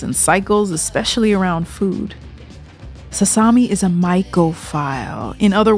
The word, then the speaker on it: Sasami: beat you know okay I have sasami rhymes with salami so I'm I'm on